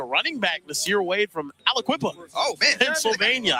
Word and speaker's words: Aliquippa: Actually, a running back, Nasir Wade from Aliquippa. Oh, man. Pennsylvania. I think that's how you say it. Everywhere, man. That's how you say it, man. Aliquippa.